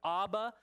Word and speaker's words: Abba: cry out Abba Father Abba of means father okay in Hebrew you can either pronounce it with a b or a v okay means father and